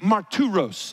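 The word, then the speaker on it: μάρτυρος: The word witnesses is pronounced in the Greek martyros. It's the word we get martyr from.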